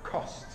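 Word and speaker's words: Khost: Spell that. K-H-O-S-T. Kost.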